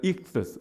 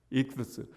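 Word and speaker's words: ἰχθύς: I하고 X하고 번데기하고 U하고 S하고 근데 그게 발음이 뭐냐면 익두스인데 그 가운데 번데기가 th 발음이 나요. 그래서 익두스. 우리 원음 발음으로 해볼까요? 시작. 네, 익두스.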